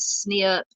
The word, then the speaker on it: SNP: Cutting Edge advance es and snip which is SNP it is uh stands for something oh single let me see if I can pronounce this single nucleotide polymorphisms I think I said that right so snip that's much easier to say led to an overwhelming